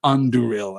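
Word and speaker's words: Andúril: It is the stress there falls on the second of the three syllables. Anduril, and I'm not always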